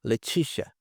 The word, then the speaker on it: Leticia: Esse C aqui tem um som sh. Leticia, Leticia.